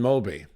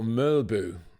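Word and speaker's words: Mølby: and Denmark International Yan mby or mbu as it is pronounced in his native Danish it's always been my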